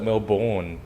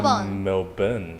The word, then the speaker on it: Melbourne: people pronounce it Melbourne but it's actually Melbourne.